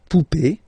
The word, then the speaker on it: poupée: Okay, remember this final is not pronounced, so you will have this e. Remember, accent aigu, it's e sound. Okay, la poupée, the doll.